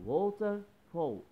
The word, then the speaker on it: waterfall: هنا ال A في fall اتنطقت كأنها O.